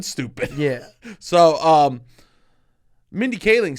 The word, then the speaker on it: Kaling: her name cat khalig calling we're overall Mindy cowling Mindy Kaling Kaling that's how you do it okay wow